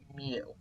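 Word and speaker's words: μ: mean is represented by the Greek letter mu and that's how it's pronounced mu so mu with capital x and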